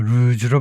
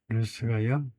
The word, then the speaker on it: ruse: 에루즈 루즈가 아니고 루즈로 발음해라죠. 루즈로에 영리한 속임수를 뜻한다. 루스가요 영리한이라는 뉘앙스가 들어 있다. 그죠? 루스가 아니고다 이거죠.